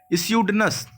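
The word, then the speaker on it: pseudonym: यहाँ पर option number B में लिखा हुआ है स्यूडनस। स्यूडनस का मतलब होता है, पी साइलेंट होगा यहाँ पर, ठीक है।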